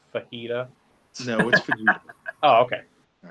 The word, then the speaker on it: Fujita: haven't heard nothing yet let's see that was vegeta all right so in pro wrestling noah uh it's pronounced fajita no oh okay all right but put some